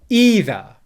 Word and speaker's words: either: been saying it there either either either i hope you can hear that the first syllable is stressed either either either and the second syllable